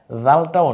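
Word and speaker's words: ذال: জালটাও নরম আওয়াজে, ওই যে সা যেমন নরম আওয়াজে, জালটাও নরম আওয়াজে। যেহেতু আমরা বহুবার এই অক্ষরগুলো বলবো এজন্য শুধু এতটুকুই বলে দিলাম, নরম আওয়াজে জিহ্বার আগা সামনের দাঁতের আগার সাথে মিলিয়ে জাল।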